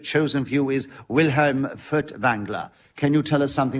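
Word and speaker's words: Furtwängler: you can starting now well Vilhelm foods Engler as you should probably it be pronounced because there's an umlaut on the a in his name was a great germanic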